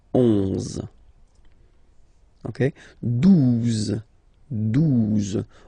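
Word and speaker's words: douze: 12, 12, O, U, the two together will give you the sound OU, okay? And then Z, 12, 12, all right?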